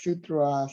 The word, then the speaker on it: sutra: It's not sutras. It's sutra, Yeah.